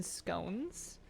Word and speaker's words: scone: are those are good we called them scon growing up for some reason that was our regional pronunciation or at least family wide pronunciation but those were nice